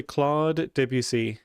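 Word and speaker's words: Claude Debussy: So how I would say it is roughly claude debut.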